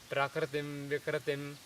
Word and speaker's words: Prakritim Vikritim: The correct pronunciation is Om Prakritim Vikritim, Prakritim Vikritim. It's almost like Prakritim without A being explicit, basically.